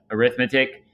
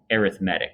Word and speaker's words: arithmetic: think when it's uh when it's a noun you use it you say uh arithmetic but in this case we're using it as an adjective it describes sequences in